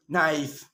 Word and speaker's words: knife: know you know this one aka is not pronounced when it comes before and n like knife no knee no not knowledge the little ill